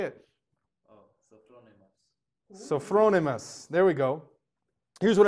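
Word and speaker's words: sophronismos: s-o-p-h-r-o-n-i-s-m-o-s oh wow come on man say it so thronemus there we go here's what it means an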